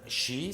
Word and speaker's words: shi: Eles têm outra forma que é 1, 2, 3, shi, certo? Shi é o número 4, seria o shi. Eles também pronunciam como yon.